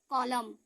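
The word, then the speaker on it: column: ठीक है, कॉलम।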